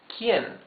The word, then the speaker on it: quién: You can see that the U is muted. You don't read this que. You read this que. So, this is que and this is quién. The U has no sound.